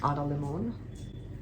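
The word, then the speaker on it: Limón: One is You're Here, Poetry of the Natural World, which is an anthology, a collection of poems that's put together by Limon.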